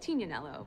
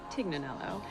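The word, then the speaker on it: Tignanello: The name The Tig comes from a wine called Tinaneloo, but often times it's mispronounced Tiganelloo.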